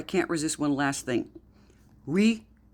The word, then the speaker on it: Ouija: Wea, not Ouija. It's not pronounced Ouija. You can see from what it says, it's we French for yes. J, German for yes.